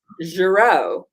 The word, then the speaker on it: Girot: pronouncing your name right it's jared like algero the jazz musician but spelled differently that's what i said then okay it's good it's a soft g that's all good so